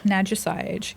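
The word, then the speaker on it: Nadja Sayej: And you pronounce it Naja. Naja Saiage.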